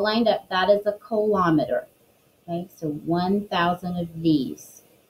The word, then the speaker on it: kilometer: last flap which is kilometer kilometer so kilo meter but it's pronounced kilometer ki l om e